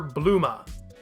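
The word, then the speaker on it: Bulma: have called this character bluma it's Bloomer with the last sound cut to me that's still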